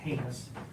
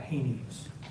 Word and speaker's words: heinous: First of all, it's pronounced heinous, not heinous.